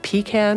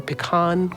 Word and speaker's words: pecan: think in the stores we have pecan or pcan cringle depending on how you like to pronounce certain things anyway Sublime ice cream